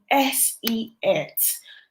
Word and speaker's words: SELT: The next one is called SELT, just as the name is spelled.